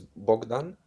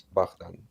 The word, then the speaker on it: Bogdan: In Russian it's Bogdan, and in Belarusian it's Bogdan. Bogdan. Bogdan. In Polish it's also Bogdan.